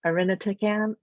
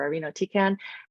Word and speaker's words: irinotecan: And the first one, which I always munch the pronunciation of irinotecan, I think it's pronounced, or irinotecan.